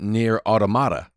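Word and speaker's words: NieR:Automata: I always say near Automa, but then as I listen to my friends in the UK who stream and they play it, they pronounce it near automata. And I kind of like that way better.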